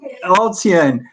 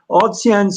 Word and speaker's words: ALTSEAN: This includes how do you pronounce it? ALTSEAN? Yep, ALTSEAN. ALTSEAN. ALTSEAN's ongoing intensive leadership program for diverse young women from Burma for the past 22 years.